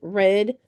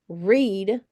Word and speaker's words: read: re e a d that could be pronounced red past tense you could pronounce it read present tense but in this one